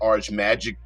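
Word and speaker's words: Ars Magica: Atlas games owns RS Magicka I've heard it pronounced ARS magic um maga maga but whatever the case may be I I like it ARS magika uh a classic game of wizards that has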